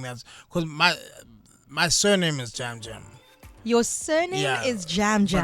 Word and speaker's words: Jam Jam: Because my surname is Jam Jam. Your surname is Jam Jam. But pronounced in Xhosa it's Jam Jam.